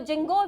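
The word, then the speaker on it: ginkgo: की आपका क्या है जिंगो इसको जिनको भी बोलते हैं जिनको भी का सकते हो की यहां पर साइलेंट है जिनको में क्या आता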